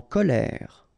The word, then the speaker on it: colère: En colère. E accent grave like that. Here you pronounce it E.